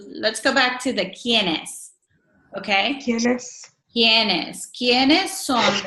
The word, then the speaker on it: quién: ¿Quién es el primo de Marcos? Okay, and it's quién. Okay. Quién. Q-U makes similar sound like in English. Q. Quién.